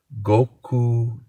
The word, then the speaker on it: Gochujang: Gochujang.